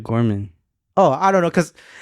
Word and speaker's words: Gorman: Bro, the way you pronounce names is so funny to me sometimes. What? Which one? It's Bishop Gorman.